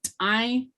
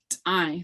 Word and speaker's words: t'ai: So like when we say the word for white is t'ai, it's AI, t'ai. So think about the word Thai, like Thailand. That's also AI as a cheat word.